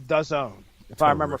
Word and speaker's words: DAZN: If I make it home in time, though, myself and Pat Mullen will check out DAZN. Oh, yeah. DAZN. Mm-hmm. It rhymes with calzone.